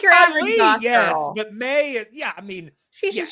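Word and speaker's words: Mai: out of the way May's name is spelled wrong because it is spelled m a a i which would mean that it is pronounced my but they say it may I got very confused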